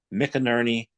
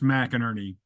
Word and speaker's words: McInerney: his name is m Ernie welcome it's actually pronounced mck Erie uh it's you you pronounced it in in the Scottish way um Scotts um have